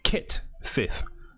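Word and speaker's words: Cait Sith: Yo, Cat Sith seems to be pronounced Kit Sith, but has undergone no major design overhaul.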